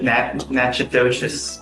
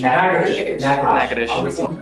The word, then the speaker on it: Natchitoches: You're wanted out of Louisiana, Natchitoches Parish. I butchered the pronunciation, but Natchitoches. What is it? Natchitoches. That.